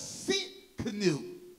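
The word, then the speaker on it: Tsidkenu: god of my righteousness jehovah's seat canoe the t is silent the guard of my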